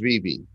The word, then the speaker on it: VeVe: i pronounce it right is it vivi or is it vive dvd yeah right on it is vb okay so so tell